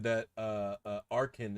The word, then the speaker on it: Archen: said that uh uh arkhan is the way to pronounce that pokemon to me because i always called it archen and she was like no it's arcane like archaeology and i was like